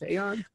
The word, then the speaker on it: Aeon: wrote in a on is pronounced a yarn you can cope you like a eo-n it's a lot of